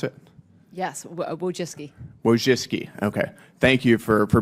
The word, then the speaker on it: Wojcicki: Excuse me, Wojcinski, is that how you pronounce it? Yes, Wojcicki.